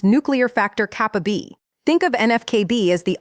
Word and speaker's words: NF-κB: in the body called NF-κB, pronounced nuclear factor kappa B.